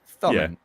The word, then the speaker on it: thumbing: we always call it tumming. Well, of course, we say tumming. With a lot of the Irish, we don't pronounce our THs, so thumbing.